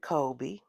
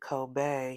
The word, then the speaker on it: Kobe: first reading about them, we said Kobe. Because for us, that is what it is. But then when you hear the creators and the makers of the ink pronounce it Kobe, you're like, oh, okay. Now I better put a little extra on it. We'll work it out. We'll pronounce it the way you say it's pronounced.